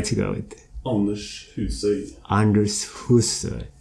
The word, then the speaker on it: Anders Husøy: It's pronounced Anders Husøy in Norwegian. I know it's very difficult. Say it again. I try to go it. Anders Husøy. Anders Husøy.